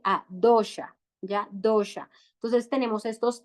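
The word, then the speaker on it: dosha: bata Pita y cafa en sánscrito se llaman dosh sí Cómo se escribe d o s h a dosh ya dosh Entonces tenemos estos tres dosas y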